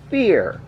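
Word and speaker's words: Vier: of cyber dragon fear that's right fear even though it's spelled with a V up just to those who don't know fear is the german word for the number 4 and essentially it is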